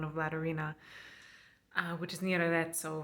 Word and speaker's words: Arezzo: which is near Arezzo, which is Arezzo. Sorry, I'm trying to say things with an American accent because it sounds so unbelievably pretentious to pronounce things with the Italian accent. It's genuinely not pretentious. It's just that my brain is thinking in Italian when I say Italian names.